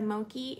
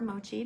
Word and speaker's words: Mochi: I have on the Alexa necklace and the Moki earrings, or Mochi, depending on your opinion of how you pronounce M-O-C-H-I.